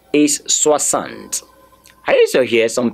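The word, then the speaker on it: soixante: Please, the last E is not pronounced.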